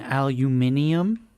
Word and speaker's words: aluminium: There's a a war between the two elements or the two pronunciations. British use aluminium. Americans use aluminum.